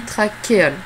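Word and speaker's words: trachéole: plusieurs petites craquer hall ça s'écrit trash et old mais ça se dit traquer al et là encore il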